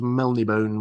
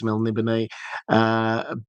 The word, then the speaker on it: Melniboné: When I first read it, it was Melnibone was how I pronounced it in my mind. I think it's Melniboné.